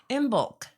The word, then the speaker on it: Imbolc: about my favorite things and you've even pronounce that in bulk it's not um no o isn't uh pronunciated in there and of course with